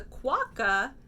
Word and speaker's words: quokka: Okay, this is the one page that I did have to look up because even though I'm given the pronunciation for the animal, that's a quokka, I had no idea what this fruit or food was.